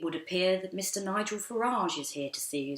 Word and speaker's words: Farage: King Boris had devised the nickname Cheesy-eyed from frequent and deliberate mispronunciations of Farage as fromage.